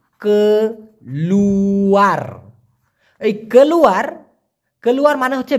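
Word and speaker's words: keluar: আমরা অনেকেই জানি মালয়েশিয়ান ভাষায় কেলুয়ার, কে লু আর উচ্চারণটা কি কেলুয়ার।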